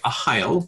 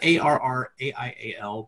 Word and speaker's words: Arraial: And then we're going to talk about two upcoming games, Arraial, make sure I get that right, Arraial, which is spelled A-R-R-A-I-A-L.